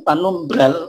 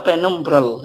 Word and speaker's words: penumbral: Kalau bahasa Inggris memang apa? Penumbral. gitu. Gitu. Tapi di bahasa di menjadi bahasa Indonesia sering disebut panumbra l-nya hilang gitu. Tapi sebagian ejaan kita ada yang masih tetap apa memasukkan L-nya. Gerhana bulan panumbra itu terjadi